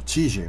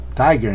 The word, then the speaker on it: Tiger: agarra da cerveja Tiger eu tava lendo tigi mas eu acho que a pronúncia correta é Tiger Porque deve vir do inglês né E tenho porém essa